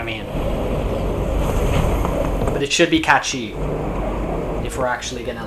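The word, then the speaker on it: Cait Sith: Kate Sith is a real Sith Lord, I hope not.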